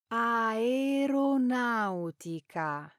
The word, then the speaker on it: aeronautica: aeronautics, pronounced Aeronautica. not, Aeronautica.